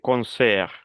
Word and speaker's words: concert: Sin la T, concert. Acuérdense que hay letras que al final de una palabra no se pronuncian. Como por ejemplo, aquí la letra final es la T. Yo no pronuncio la T.